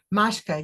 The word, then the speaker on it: Mashka: And am I pronouncing Mashka right? Mashka.